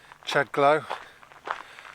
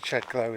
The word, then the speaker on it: Chedglow: That pronunciation is illiterate, is historically illiterate, because there's two elements there, one of which is low, so it's not glow at all.